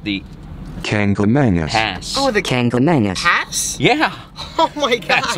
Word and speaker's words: Kancamagus: Oh, the Kancamagus Pass?